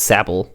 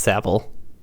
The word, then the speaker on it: Sable: Or maybe it's Sable. I think it's actually pronounced Sable. Yeah, if it was Sable, it would be E before the L, not after.